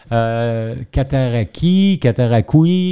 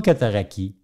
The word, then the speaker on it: Cataraqui: Sauf que les Anglais, ils ne prononcent pas Cataraqui. Ils prononcent Cataraqui. Cataraqui.